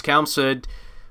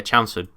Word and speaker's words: Chelmsford: Yeah, Chelmsford. The pronunciation of the name. But then I thought Chelsea. It must be Chelmsford. Anyway, and I think someone said that to me once. Say it like Chelsea.